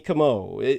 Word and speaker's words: Como: but Como kamo am I getting it right this time you're good yes oh come all like the lake in Italy yeah like Perry Como like Perry Como oh